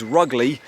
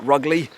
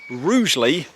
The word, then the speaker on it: Rugeley: this trail and I asked him how to pronounce the name of the town. I thought it was Rugley. He said the locals call it Rugly, but it's actually pronounced Rouely.